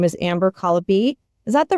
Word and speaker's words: Colopy: Her name is Amber Colopy.